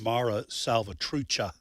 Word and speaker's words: Mara Salvatrucha: that regard uh by the way I I mispronounce the uh the name it's Mara salvatrucha I knew you did that but I didn't